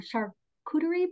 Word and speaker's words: charcuterie: are going to have our, I'm going to pronounce it wrong, charcuterie board.